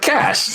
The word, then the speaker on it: cache: Cas cuz then it's separate from the word cash y nothing is called a case f pronunciation you just don't like homophones no I'm